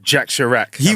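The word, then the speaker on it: Jacques Chirac: Jack Sharak. I'll let you know what they look like then, guys. help help you spell it. Jacqu as in the French way.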